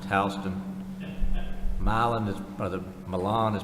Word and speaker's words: Houston: just one quick in in Georgia Houston is pronounced Halston Miland is brother Milan is pronounced malan and